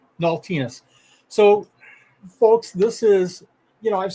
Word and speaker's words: Naultinus: How did I do with my pronunciation? Am I off? It's Naultinus. Naultinus.